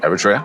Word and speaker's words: Eritrea: Am I pronouncing it right? Eritrea, yeah.